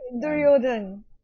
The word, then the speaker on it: Duryodhana: everything away to the piece of shit guy, Duryodhana. Duryodhan. Is that how you pronounce his name? Duryodhan, yeah.